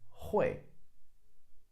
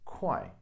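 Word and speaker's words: 会: which is the character hoy Hoy on a side note can also be pronounced as koi some characters have different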